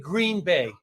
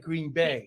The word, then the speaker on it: Green Bay: I said Green Bay instead of Green Bay. Emphasis okay. on Now the you know wrong better.